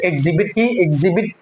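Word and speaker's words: exhibit: एच को हम silent कर देंगे तो एग्जिबिट है ना, एग्जिबिट ही बचेगा, हाँ नहीं बोला जाएगा।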